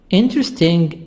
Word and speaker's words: interesting: Interesting, E silent. This E silent. The first E is silent.